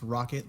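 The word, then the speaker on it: Rokot: k o t so I assume it's pronounced rocket like the you know rocket ship but this variant of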